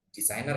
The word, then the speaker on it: designer: Ini silent G ya, jadi huruf G-nya nggak usah dibaca. Jadi kayak nggak ada gitu kan. Designer, bukan designer.